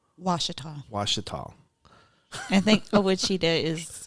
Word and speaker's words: Ouachita: I think it's probably Caddo, but they pronounce it Washita now. Washita? Yeah. I butchered that. No. So. Most people read it the phonetic way to say it, but they pronounce it Washita.